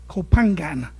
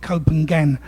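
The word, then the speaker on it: Koh Phangan: Um they're they're just about to do go to Copangan. I can never pronounce it right. My wife always pulls me up with my East End accent. I call it copengen but I always get it wrong.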